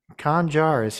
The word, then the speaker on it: Kanan Jarrus: Yeah, I'll say it the way it needs to be pronounced, okay? Okay? Kanan Jarrus here from Rebels.